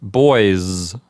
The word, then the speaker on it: boys: And if you think about it for a minute, you'll quickly see that the S at the end of the word boys really is pronounced like a Z. So it's boys.